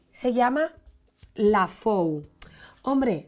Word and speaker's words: La Fou: taninos y se llama lafou hombre si lo dijéramos en francés sería lafou Pero es Catalán de la tierra alta y se pronuncia la fou y es eh la